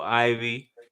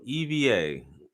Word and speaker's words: Eva: um it's actually pronounced Eva Eva I'm sorry oh EV that's like Spanish so she's got the Spanish pronunciation on her name it's Eva all right yeah so Eva let's start at let's